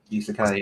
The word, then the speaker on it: isekai: into the oh wow isekai anime is that how you say it isekai yeah that was close uh what is your